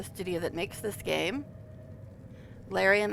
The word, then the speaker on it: Larian: But then, after that, Larian, the studio that makes this game, Larian, as us Americans say, Larian, as Neil says. So we'll just go with Larian.